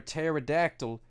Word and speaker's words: pterodactyl: can't you hear a pterodactyl in the bathroom because the p is silent that's right ladies and